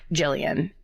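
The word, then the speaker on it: Gillian: Jillian, and in parentheses, it's just said like Jillian, but spelled with a G.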